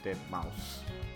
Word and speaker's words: deadmau5: as Mao, and then the 5 has an S, so it's pronounced S, like dead mouse, you know?